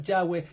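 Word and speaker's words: Yahweh: que es el hebreo su verdadero nombre ya fue de h w aquí está la consonante y se pronuncia ya ve que es el nombre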